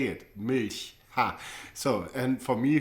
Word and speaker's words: Milch: that are so different or so difficult to pronounce for the tongue. For example, try to say Milch. It's a German word, means milk. Yeah, but most people like from the US cannot say it. Milch.